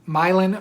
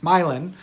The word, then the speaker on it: Milan: yarn shop in um milan michigan and i had to think about it because it's not milan it's spelled like milan but it is not milan it's myelin and that is july